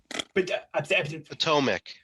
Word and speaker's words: Potomac: damn thing crashes and paul how do you say the river because they say it wrong in the four minute video we watched atomic potomac there you go bucky